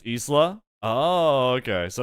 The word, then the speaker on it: Isla: Isla is pronounced in the Spanish way, like the KOF character. I'm not even sure. In Spanish, it's Isla.